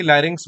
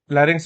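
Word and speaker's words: larynx: तो ये स्वर यंत्र यानी कि लेरिंग्स में होता है। ठीक है? लेरिंग्स इसको बोलते हैं।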